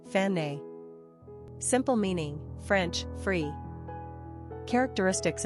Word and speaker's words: Fannie: Pronunciation, Fanny.